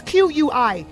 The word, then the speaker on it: Qui: It's Q-U-I, Qui. I think it can't be anything other than that.